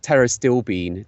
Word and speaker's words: pterostilbene: I think it's pronounced pterostilbene. Right. So it's got a P on the front of it that's silent.